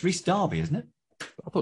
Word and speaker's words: Rhys Darby: do you think about the world darby it's rhys darby isn't it i thought it was barbie now he's are you saying it wrong i'm